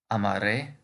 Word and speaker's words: amaré: form of amar becomes amaré, amarás, amará, amaremos, amareis, amarán. The accent on the last vowel simply indicates that that's where the stress of the word is.